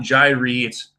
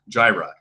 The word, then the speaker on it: Gyre: a mac spec jireh i guess i've been mispronouncing it's not Gyrenes jireh so he's been willing